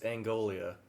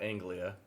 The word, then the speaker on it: Anguilla: moved Anglia don't spinning it's angolia not Anglia I guess Derek's the